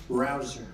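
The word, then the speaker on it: Rouzer: Petersen David Rosen hey you know how you pronounce it rabble rouser you go David rouser where's David is he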